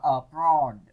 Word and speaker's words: abroad: Còn câu D thì các bạn đọc là abroad. Nhấn vần 2.